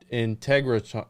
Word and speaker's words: Integratron: Integratron, is that how you say it? Integratron.